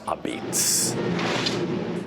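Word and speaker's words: apizza: Pronounced a beats. Pronounced a beats. That's how we say pizza in New Haven.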